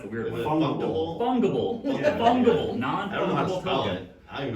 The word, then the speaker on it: fungible: I don't even know how It's to like pronounce it for real. Fungus, but ibble. Ah, okay. Fungible. Fungible? Well, no, not fungible. Fungible. Fungible. Weird.